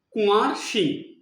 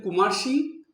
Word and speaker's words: কুঁয়ার সিং: ঠাকুর কখনো বলতেন কুমার সিং, কখনো বলতেন কুঁয়ার সিং। তো এইভাবে ঠাকুর উচ্চারণ করতেন তার নামটা, কিন্তু তার নাম ছিল কুঁয়ার সিং।